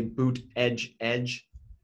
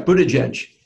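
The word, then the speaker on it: Buttigieg: I think they're even t-shirts that say boot edge edge like as basically pronunciation guide I think it's in his Twitter like bio or something of that extent so but yeah Budaj edge is the way that it's supposed to be pronounced although his I want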